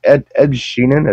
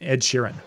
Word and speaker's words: Ed Sheeran: Is it Ed Sheeran? Is that his name? Ed Sheeran.